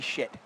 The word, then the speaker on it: Sujit: That's actually shit. That's how you pronounce his name.